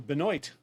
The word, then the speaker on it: Benoit: oh I T so if you are phonetic you'll want to look for Binoy moanin been a la